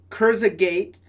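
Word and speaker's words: Kurzgesagt: It's called Kurzagate. I'll just spell it for you.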